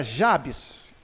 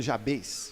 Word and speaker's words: Jabez: nome não muito legal o nome dele era jabs já vi alguns pronunciando jabez jabs polaco versículo 9